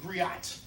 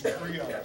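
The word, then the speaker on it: griot: But you can hear that the T is silent. So if you ever see it or read it, please. It ain't gri, it's grio.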